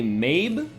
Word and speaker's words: Medb: It's actually supposed to be Mabe. I've been saying Medb because I didn't piece two and two together like, oh, the D is probably silent.